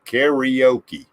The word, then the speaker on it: karaoke: when cookie came here we said karaoke we added all kinds of syllables but it's in the Japanese language you roll your R could have good that's